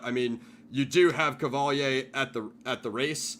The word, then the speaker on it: Qvale: shell it's shell and the second one sounds like an Italian name it's like cavali CV l in fact